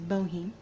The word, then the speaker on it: Bohem: means both junk and I realized I said his name wrong the last time I said bone is Boheme but I just finished